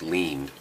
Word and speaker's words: Lind: name spelled this way I knew it was pronounced lean so after 10 or 12 years of seeing lean without seeing Lind that's